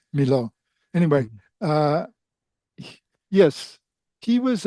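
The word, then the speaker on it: Milhaud: uh studied with Darius Milhow. Uh Milo is how you pronounce it. Yes. Um um you you don't pronounce the H or the D. Milo.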